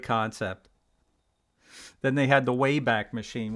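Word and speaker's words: WABAC: then they had the wayback machine which i actually spelled w-a-b-a-c but pronounced way back it resembles a computer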